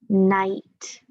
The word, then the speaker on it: knight: that is spelled n-i-g-h-t but what about knight and shining armor they both sound the same but there's an extra letter in that kind of night do you know what